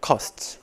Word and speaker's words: cost: 중요한 건 발음인데 코스트가 아니라 커스트.